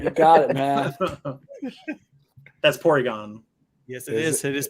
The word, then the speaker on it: Porygon: It's Porygon.